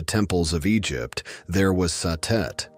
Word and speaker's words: Satet: Before the great names of Isis or Hatheror filled the temples of Egypt, there was Satet pronounced Satet or Sadis by the Greeks.